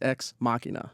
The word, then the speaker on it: Ex Machina: The movie is Ex Machina, which I've seen a bunch of different reviews and reports, and everyone says it differently. So the official pronunciation is Ex Machina.